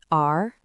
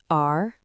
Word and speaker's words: 儿: It is pronounced in the second tone. Repeat after me. R, R, R.